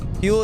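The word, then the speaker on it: Huel: Fuel is today's sponsor. That's spelled H U E L.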